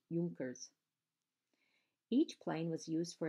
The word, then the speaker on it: Junkers: The Luftwaffe used several different kinds of planes for their blitzkrieg bombing, including the Heinkel, Messerschmitt, and Junkers, pronounced Junkers.